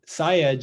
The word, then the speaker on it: Sayegh: So my first name is, Jam, like Michael, Il, and then Sayegh is S as in Sam, Ayegh.